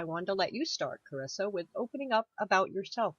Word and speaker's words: Charissa: Yes, Charissa with a hard C.